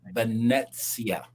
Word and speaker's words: Venezia: "Christine Duffy came on and told me like it's Venezia," and I'm like, "Oh, okay." And so he was embarrassed about it too because the CEO of Carnival had to tell him the correct pronunciation.